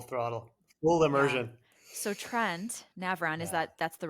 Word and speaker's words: Trent Navran: So Trent Navran, is Yeah. that's the right pronunciation? Trent Navran.